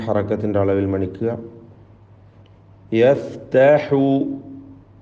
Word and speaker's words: يفتح: യഫ്തഹു യഫ്തഹു ഹാഇൻ്റെ ഉച്ചാരണമാണ് ശ്രദ്ധിക്കാനുള്ളത്. പ്രത്യേകിച്ച് തൊണ്ടയുടെ മധ്യം വസത്തുൽ ഹൽഖാണല്ലോ ഹാഇൻ്റെ മഖ്റജ്. ബൈനന ബിൽ ഹഖ് വഹുവൽ ഫത്താഹുൽ അലീം.